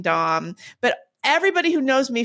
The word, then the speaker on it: Daum: who was like oh your name is Dom that's how that should be pronounced you know and they